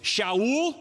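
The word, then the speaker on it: שאול: and Pulse it's all in Hebrew was Showell everybody know him say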